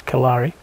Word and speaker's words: Kalari: Well, people pronounce it as Clare today, but it's the pronunciation is Kalari.